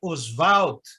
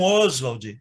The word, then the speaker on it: Oswald: Em relação ao Mário e ao Oswald, no campo da teoria, aliás, a pronúncia é Oswald, porque é uma pronúncia francesa, e não Oswald, que é uma pronúncia inglesa.